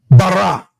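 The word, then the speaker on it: ברא: So that word is pronounced bara.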